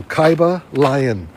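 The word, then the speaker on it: Kybalion: you to look into the cabalian that is spelled KY b a l i o n so Kaiba lion cabal by the three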